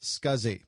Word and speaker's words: SCSI: able to use it the abbreviation SCSI is pronounced scuzzy and this stands for small computer systems interface